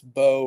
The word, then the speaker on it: Bow: It's Bow rather than Bow, but you danced to the middle there, which was good. Bow and bow. But it's Bow.